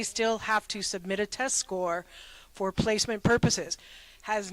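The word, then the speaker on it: SCOIR: will be sending test scores to Arkansas that's a whole another ball game okay Bishop Kelly uses the score program and even though it's spelled s c i r it is pronounced score it's Gaelic don't ask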